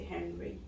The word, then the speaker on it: Henri: Do you pronounce it as Henri or you say Henry? In French, it's Henri. Henri. In English, Henry.